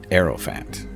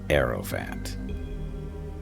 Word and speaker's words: Hierophant: Aerophant. Actually, the H is silent. Aerophant.